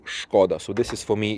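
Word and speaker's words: Škoda: it's a sh so some people like in the UK and you in America they pronounce is scod we say shod so this is for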